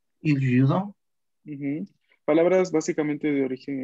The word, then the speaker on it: judo: La pronunciación va a ser como la Yugoslavia, la Yugoslavia. Il judo. Il judo.